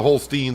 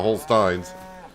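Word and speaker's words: Holstein: and some Hol Stein I'm going to start pronouncing the Hol Stein I know there's someone out there really wants me to pronounce the Hol Stein not whole Steins potato potato uh but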